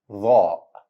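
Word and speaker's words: ظاء: Second letter and number 17 in Arabic alphabet is letter Dha. Dha. It's also a heavy version of the letter TH in the word that.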